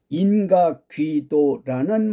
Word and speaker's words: 인가귀도: 인가귀도 발음 잘해야지 잘못해서 인가기도라고 하시면 말이 안 됩니다.